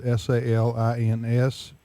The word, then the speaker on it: Salins: Talking to Peter Salins, S-A-L-I-N-S. Salins, is that how you pronounce it, Peter? I say Salins.